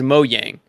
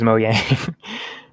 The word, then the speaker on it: Mojang: how to pron because I thought it was moyang I think you're right I think I missed pronounce it just now mang moang moang moang moang okay yeah gotcha I just always say Mojang because it has a j but you're right it is moang yeah we apologize MO